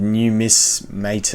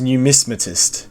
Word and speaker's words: numismatist: in the trophy breakdown I actually butchered that I said new Miss mate I don't know I'm pretty sure it's a numismatist numismatist that must be something